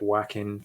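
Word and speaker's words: Joaquin: Um so, I pronounce it Hokim Phoenix. I know some people um pronounce it Wackin Phoenix. Yeah. Um, I'm going with the Spanish pronunciation and I'm sticking with it.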